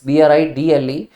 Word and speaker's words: bridle: दोस्तों इसकी प्रोनाउंसिएशन भी सेम है, दिस इज BRIDLE।